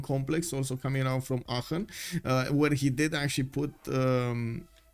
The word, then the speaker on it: Aachen: Okay, it's Aachen.